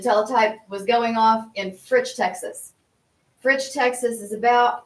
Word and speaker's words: Fritch: Fritch, like Okay, Fritch, rhymes, okay. rhymes with pitch.